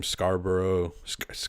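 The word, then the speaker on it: Scarborough: mean he played for some Scarboro is how you say it scar scar scarb Scarboro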